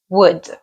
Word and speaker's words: would: now let's talk about wood the L in this word is silent wood is also used